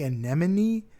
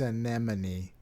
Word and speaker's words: anemone: what no then I've been saying it right my whole life yeah but I when I looked it up I was like is an enemy right and they're like no it's anemone but no it is